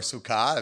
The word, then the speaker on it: sukkah: of year so that's our sukkah if you or sukha if you want to use the more hebrew the more modern hebrew pronunciation if you are in